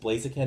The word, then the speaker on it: Blaziken: And then the evolved Torchic, is it Blaziken?